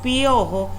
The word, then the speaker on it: piojo: En la palabra piojo, fíjense como cuando yo pronuncio piojo, esa i y esa o no suenan separadas. Escuchen, piojo.